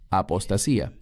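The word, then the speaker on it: ἀποστασία: La palabra aquí es apostasía, en griego, que se pronuncia igual, apostasía.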